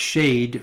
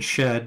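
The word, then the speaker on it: שד: Bach shade demon shade the Hebrew word shade spell pronounced shade rather than shed as it's written in the transliteration Schedeen plural means the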